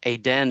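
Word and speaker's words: Aedn: Realms of aen and Aden is spelled a e d n NE it is also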